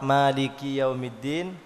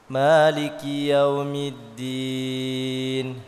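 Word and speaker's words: مالك يوم الدين: Jadi ketika rakaat pertama baca surah Al-Fatihah, cara bacanya begini: Maliki yaumiddin. Itu rakaat pertama. Rakaat yang kedua, Maliki yaumiddin, mimnya dibaca pendek.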